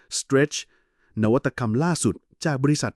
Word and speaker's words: STRC: สิ่ง ที่ เรียก ว่า STRC อ่าน ว่า Stretch นวัตกรรม ล่า สุด จาก